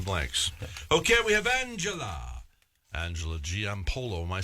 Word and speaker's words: Giampolo: Okay, we have Angela Giampolo.